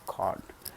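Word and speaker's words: chord: is called cart cart so many people say charge chart is not a good pronunciation is called cord God we have to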